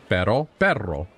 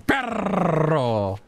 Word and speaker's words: perro: I mean, you don't have to roll your R's that much. It's a little bit. Perro. Like, it's like a half second extra. You don't hear Spanish people going, perro.